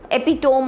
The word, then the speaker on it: epitome: great example of something but the pronunciation is epitome so epitome you know it's like that ap me that's that's how you pronounce it epitome not epitome please remember and uh then